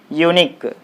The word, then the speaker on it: unique: okay and finally uh if a word is ending with q-u-e then also the stress will be on the last syllable for example unique u-n-i q-u-e unique u